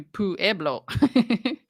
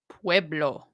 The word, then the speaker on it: Pueblo: I read that because you don't want me to say to puerblo right Pueblo welcome to all the